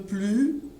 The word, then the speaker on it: plus: Alors, il est un peu plus petit que toi. Plus. Je prononce plus sans le S.